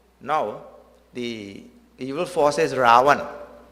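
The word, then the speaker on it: Ravana: In that Treta Yuga, now the evil force is Ravan. Ra-va-na. 3 syllables.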